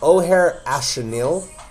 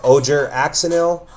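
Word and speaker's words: Ojer Axonil: new damage accelerant piece, O'Hare Astanil. I see a lot of people say this wrong. They say Ojer axanil. It's a O'Hare astanil. It is uh a South American word or South American pronunciation.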